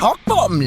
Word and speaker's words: Kochbaum: God, if It's my pronounced queen- Cockbottom, love.